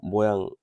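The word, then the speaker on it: mho: 이거 옴을 거꾸로 모양이 되고 있죠. 이거는 모라고 읽어요.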